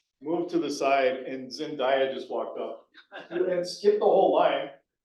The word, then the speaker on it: Zendaya: Yeah, Zendaya.